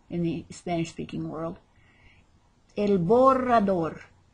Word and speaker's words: borrador: the spanish-speaking world el borrador and if you say el borrador don't worry as i mentioned before you will still be loved for trying to use the word and not rolling your r's this is for an